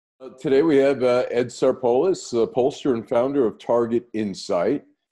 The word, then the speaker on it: Sarpolus: Today we have Ed Sarpolus, pollster and founder of Target-Insyght. Did I pronounce that correctly?